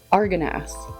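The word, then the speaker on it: Argonath: So here we've got the Araganath. Hold up, how do you say? Lord of the Rings statue. Oh my God, fake fan. Arganath.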